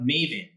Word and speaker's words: Mayvenn: So I'm the Chief Operating Officer of Maven. That's spelled Mayvenn.